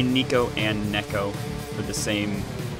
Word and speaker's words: Neko: Neko. That's how you say it.